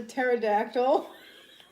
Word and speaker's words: pterodactyl: it was a pterodactyl it was a terod actl you didn't even spell that correctly Court pterodactyl has a salent p yeah you sure about